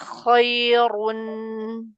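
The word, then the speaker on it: خَيْرٌ: Tebalkan runya. Khairunir khairun.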